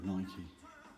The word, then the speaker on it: Nike: Do you say Nike or do you say Nike? I kind of use the Latin pronunciation. So Nike, as in the goddess of running, of speed or whatever it was.